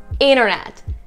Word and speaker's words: internet: So you notice that whenever, sometimes when T comes right after N, you do not really pronounce a T. Same thing with an internet. It's internet, not international, but international, right?